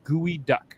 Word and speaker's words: geoduck: their very first geoduck oh it's pronounced gooey duck wait is that thing